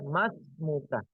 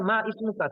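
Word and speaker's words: ما اسمك: Yang benar adalah mas muka. Memang asalnya ma ismuka. Tulisannya itu kalau biasanya di buku-buku bahasa Indonesia tulisannya ma ismuka. Tapi cara bacanya mas muka. Kenapa cara bacanya mas muka? Karena adanya hamzatul wasal.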